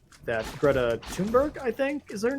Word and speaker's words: Thunberg: about how that Greta Thunberg, I think, is her name. Thunberg. Thunberg. I always called her Thornburg, and there's clearly no R, so whatever.